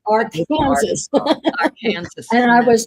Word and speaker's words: Arkansas: it is not the Arkansas River. It is the Ar Kansas River. Oh my goodness. It is not the Arkansas River. In Texas, it's Arkansas. It's our Kansas.